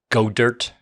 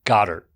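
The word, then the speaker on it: Goedert: another one you called the Eagles player Dallas go dirt yeah yeah no his name is pronounced Goddard yay as in God why did you give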